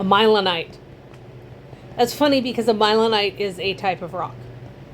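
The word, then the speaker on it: mylonite: That's funny because a milenite is a type of rock. So there you go. And it's spelled M-Y-L-O-N-I-T-E, I believe.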